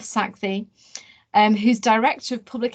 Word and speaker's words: Sakthi: welcome dr saxi karuna i did check out the pronunciation i hope that's near enough saxi and who's director of